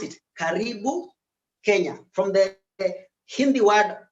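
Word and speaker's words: karibu: r i b u just the way you pronounce it caribou kenya from the hindi word maybe from karim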